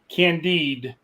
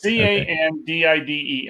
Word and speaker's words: Candide: It's candid, right? No, Ty guy said it right. Is it Candide? Is that how you say It is it? Candide. It's Candide. I said it right.